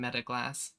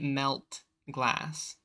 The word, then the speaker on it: Metaglass: I don't know why I thought there was an L in Metaglass. Have I really been saying it wrong this whole time? Jesus Christ. Where? Well, yeah, in glass. But I was calling it melt glass.